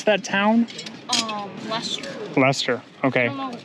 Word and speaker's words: Leicester: Lester. Leicester. Okay. I don't know, like, how do you, like spell it, but Yeah. just Lester.